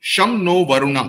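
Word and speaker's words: शं नो वरुणः: right so Indian Navy sh no varuna okay sham no varuna that's how it's pronounced which means be auspicious to us o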